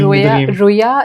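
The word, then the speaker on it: rüya: you said dream so in Turkish we call Dream as r r r r yeah am I saying it right we say see a dream like see Roya is dream gorm is see gorm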